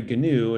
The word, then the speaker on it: Gnu: here is actually and they pronounced it with a hard g gary gnu is an old character from a tv show um and and um yeah so it's an excuse to show gary gnu when i talk about